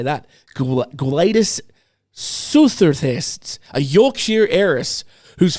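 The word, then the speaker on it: Gwladys: Guadis suthers.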